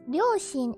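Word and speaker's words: 両親: But the parents character you usually pronounce like oya. But since ryoshin is a compound that's kind of based off Chinese, I guess, you pronounce it shin.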